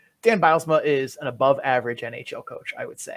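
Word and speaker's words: Bylsma: were playing out of charlotte last season dan bilesma did i pronounce that right that's correct okay see i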